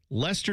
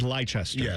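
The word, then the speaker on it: Leicester: Lester City had never won anything. They started it has like 28 letters. It looks like Lchester. Yes. But it's Lester is how they say it.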